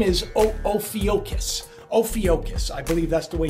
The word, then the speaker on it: Ophiuchus: Ophiuchus, I believe that's the way you pronounce it.